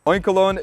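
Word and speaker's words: Oinkologne: Like oink, like a pig, and cologne. Oinkolon is gonna be at a CP of 2,819 for the female, and for the male, it's gonna be 2,948.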